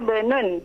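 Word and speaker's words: ابن: Hadza ibnun. Gimana bacanya, Ummu? Hadza bunun. Hadza bunun, sahih. Kenapa demikian? Ada hamzah wasal, Ustaz. Hamzah wasal di sini.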